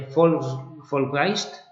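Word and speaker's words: Volksgeist: en el que vivían esto de folk geist que está escrito para que lo pronunciemos así más o menos pero eh es con v vale esta F es que como en alemán la v suena como una F no como el coche Volkswagen No pues eh directamente una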